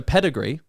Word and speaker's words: pedigree: The e and the e are stressed, but the middle syllable isn't. So, pedigree. E to e. So, you when you're rhyming pedigree, you wouldn't rhyme that that middle vow. Okay. So, pedigree would rhyme with um uh weaponry.